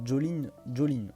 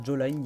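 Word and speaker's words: Jolyne: Ah oui, je sais pas quelle est l'idée de prononcer Jolene. Moi je prononce ça Joline, il y a un Y, pour moi j'ai envie de dire Joline.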